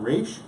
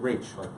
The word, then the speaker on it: Raich: And it's pronounced Raich. Not Raich, but Raich, like R-A, Raich, okay?